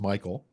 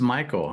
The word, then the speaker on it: Michel: So, last name, by the way, is spelled is pronounced Michael, but it looks like Mitchell. It's pronounced Michael, man.